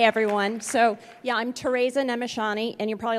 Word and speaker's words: Nemessany: So, yeah, I'm Tereza Nemessany, and you're probably like, what? Yeah, that's from Austria-Hungary. My parents immigrated from there, and if you are from there as well, you would pronounce it Nemessany, Tereza.